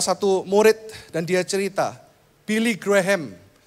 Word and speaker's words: Billy Graham: murid dan Dia Cerita Billy Graham ya bacanya harusnya Billy Graham Billy grahem ini punya quote bilang